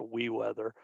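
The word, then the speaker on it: weewx: we weather uh the the program itself is w-e-e-w-x pronounced we weather it's a free open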